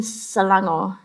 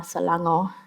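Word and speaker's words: Selangor: half my life but I grew up in salango in Malaysia that's spelled s e l a n g o r salango I've been a human act a human rights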